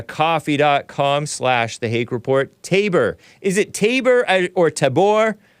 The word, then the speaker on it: Tabor: always heard maybe that's a Mama rural it's Tabor Tabor it's the mountain in the Bible where the